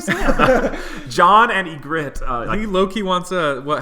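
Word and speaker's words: Ygritte: I'm going to need help with the name egit egit yeah egit egit uh let me write it out um it's spelled weirdly too but y g r r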